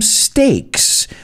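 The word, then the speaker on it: stakes: you'll also need some steaks no no digochuletones yeah pack those two but i mean estacas they're homophones they sound exactly the same lo que no puedes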